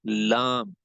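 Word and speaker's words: ل: So lam has to be pronounced when this part got the same makharij as the ra with the same volume of the tongue will has to be taken here.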